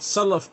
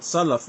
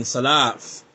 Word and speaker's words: Salaf: If you can't say the word Salaf correctly, and this is from my experience, if you cannot pronounce the word Salaf and you're saying Salaf, then I have to